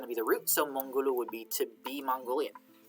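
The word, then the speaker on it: Монгол: which is Mongol, and it's spelled with an O in Cyrillic, but I think it's pronounced like a back vowel, like a U, a high back vowel, so it's going to be Mongol, I think, in my language.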